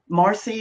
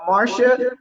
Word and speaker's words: Marcia: Marcy, is it a? Yeah, Is that her name? yeah, Marcia. It's pronounced Marcia.